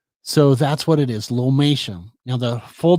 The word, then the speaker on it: lomatium: u m okay so that's what it is lomation now the full name is lomatium dissectum um